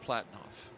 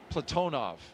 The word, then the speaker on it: Platonov: Ross Cosmos cosminaut Alleg Platinoff. Platonov. I corrected my pronunciation yesterday and I slipped back into Americanizing.